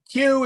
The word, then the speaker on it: Q: not get into that Q is the same sound as a hard K again like English but you always follows a q again like English so it's a quit sound uh yes unless you're